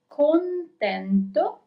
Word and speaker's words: contento: So we have contento. Remember to pronounce the N too.